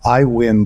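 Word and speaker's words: Aiwyn: discussions is like you I mentioned iWin and it's spelled weird a iwi n right um we've seen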